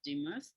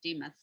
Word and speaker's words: Demuth: yesterday with the artist charles dumuth or demuth as he likes to have it pronounced demuth um he saturated his